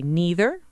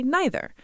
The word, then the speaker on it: neither: The exact same rule applies to neither. You can say neither, or you can say neither.